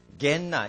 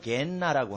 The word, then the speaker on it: 게헨나: 빨리 말하면 게헨나 이렇게 발음이 됩니다. 성경에는 게헨나 이게 육체가 나중에 심판의 부활로 생명의 부활로 마지막 날에 죽은 자가 다 일어납니다.